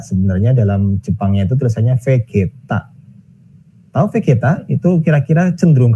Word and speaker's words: Vegeta: juga launch atau saingannya sound gokil bukan namanya Bezita ya bacanya di Indonesia bercita-cita sebenarnya dalam Jepang yaitu terasanya Vegeta Oke kita itu kira-kira cenderung kearah mana itu